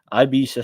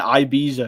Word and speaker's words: Ibiza: Ibiza seems to be. Why am I calling it Ibiza? It's Ibiza, but it's spelled Ibiza.